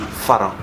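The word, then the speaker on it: ฝรั่ง: En prononciation thaï, on dit Pharang.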